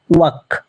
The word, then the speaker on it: walk: of the word is walk. Walk. W-A-K. Walk. Walk. In the word, L is not pronounced.